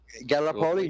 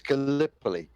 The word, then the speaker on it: Gallipoli: pellet Elysee yep yep did I say it right Gallipoli no it's Gallipoli Gallipoli pearly I'm sorry